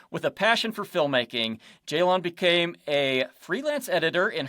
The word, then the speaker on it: Ceylan: So the C is pronounced as a J.